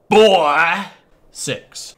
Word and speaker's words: Boy 6: But it's imperative that you pronounce it Boy 6.